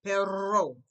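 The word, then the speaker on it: perro: behind my teeth okay the double hour is always rolled also words that begin with aura have that double roll too cause I say pero now for the dog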